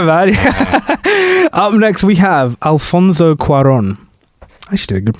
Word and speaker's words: Alfonso Cuarón: Up next, we have Alfonso Cuarón. I actually did a good pronunciation. That was good. Yeah, that's nice. Little accent on there.